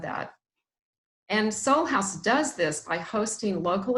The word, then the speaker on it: SolHaus: how it is written it's pronounced soul house but I don't know